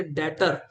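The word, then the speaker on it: debtor: डेटर। B silent है बच्चे। डेप्टर नहीं डेटर।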